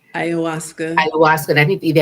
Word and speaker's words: ayahuasca: person had taken Ikawasha, am I saying it correctly? Ayahuasca.